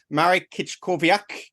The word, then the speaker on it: Marek Kiczkowiak: today to have uh Marik kit kovak uh how did I do marrick on that one you're pronouncing your name okay perfect perfect it was spot on thank you so it's